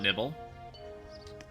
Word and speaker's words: Nibel: Actually, it's pronounced Mount Nibble.